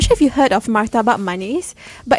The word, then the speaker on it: martabak: martabak stalls, like food sort of stalls in food halls as well, and it's not murtabak. Yeah, it's not It's murtabak. martabak.